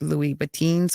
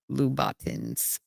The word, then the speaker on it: Louboutins: So the proper way to say that is Louis Boutins or Louboutins. It depends on what part of the country you're from, or part of the world you're from. Okay.